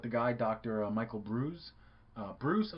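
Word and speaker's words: Breus: Michael Bruce Bruce I think it's pronounced but it's not spelled like Bruce the name but the full title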